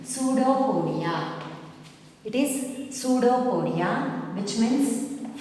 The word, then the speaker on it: pseudopodia: P is silent here, children. Pseudopodia.